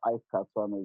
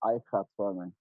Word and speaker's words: Aikhaituamen: It's not Aikhaituamen, it's Aikhaituamen. I get people not pronouncing the surname properly well, but it's okay.